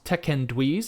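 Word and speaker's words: Teken'duis: The Do'Urdens finally reach the gates of House Tekendwiz, is how my audiobook pronounced it. I had to listen to the audiobook just to get an idea of, but yeah, Tekendwiz is how.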